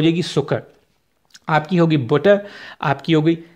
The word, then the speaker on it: Zucker: वो इंग्लिश में शुगर और जर्मन में वो होगी सुकर, तो उसमें आप देख सकते हैं कि उसके स्पेलिंग जो है वो ZUCKER है। अब जेड से आप लोगों के जहन में आ सकता है कि यार ये जुकर क्यों नहीं है, वो इसलिए क्योंकि